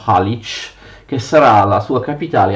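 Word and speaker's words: Галич: La Galizia peraltro era così chiamata per via della città di Galić, che gli ucraini pronunciano Halič, che sarà la sua capitale a partire dal XII secolo.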